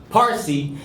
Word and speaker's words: Parsi: The word pronounced Parsi is the Persian language. Literally means Persian. Note that Farsi is Arabization of the word Parsi, which is used as an endonym of Persian.